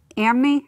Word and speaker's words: anime: Because there seems to be like a little bit of, is it anime? I can never pronounce it.